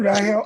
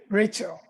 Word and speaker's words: Rahel: Is the name Rahel or Rachel? Rachel. It's Rahel. Rahel.